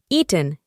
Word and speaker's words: eaten: Como puedes escuchar, reemplazamos las vocales ea con i y pronunciamos eaten, que aquí significa comido.